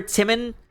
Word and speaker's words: Timon: We're going over Timon of Athens right now, which I know it's pronounced Timon of Athens, but I keep, I'm just used to calling it Timon.